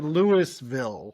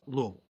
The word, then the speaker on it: Louisville: A lot of people say Lewisville. Never have just dumb. But the uh prod correct pronunciation is Louisville.